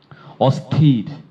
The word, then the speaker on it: অস্থির: এক স বাংলা স্বর অস্থির এটির উচ্চারণ স্বর্ণলতা ঘোষ জানতে চেয়েছে অস্থির এটি অসথির এটির উচ্চারণ অ থির সবাই একটু বোর্ডে খেয়াল